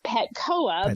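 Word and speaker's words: Petchoa: do I pronounce this um and it is pcoa because it's pronounced like calibra COA because yes it is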